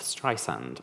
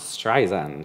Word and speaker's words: Streisand: is the pronunciation of strand like sand on the beach it's not strand she often says my